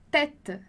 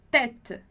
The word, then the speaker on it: tête: Então, a gente tem lá tête, tête. E aí você já sabe, então, que o E a gente vai pronunciar com o som de E, porque tem um acento circunflexo ali em cima.